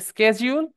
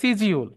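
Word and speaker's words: schedule: ই এল ই সো আমরা অনেকে বলি শিডিউল বলি তাই না সো এই মূলত এই মাঝখানে ডিটা থাকলে এটা জয় এর মত উচ্চারণ হয় এটা হয় স্কেজউল না হয় সিজিউল বোঝা গিয়েছে বুঝছো তো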